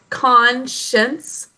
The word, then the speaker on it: conscience: part of it davanch should there be two syllables or three syllables when we pronounce it con schins it's just two syllables but when we think